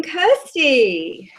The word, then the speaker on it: Kirstie: or of course in the kitchen so welcome Kirsty thank you thanks so much for having me and you pronounce my phone on perfectly which of incredible